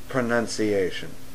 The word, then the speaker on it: pronunciation: Oh, and speaking of which, it is pronounced pronunciation. You pronounce something, or you have pronunciation. You can't mix the two together, dude.